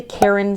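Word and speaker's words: Caron: leftover yarn um I think it was the Karen simply soft c a r o n for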